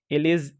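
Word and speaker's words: elegy: जाता है, उसी को एलिजी कहा जाता है। एलजी भी उसको बोलते हैं, प्रोनाउंसिएशन का एलजी भी होता है।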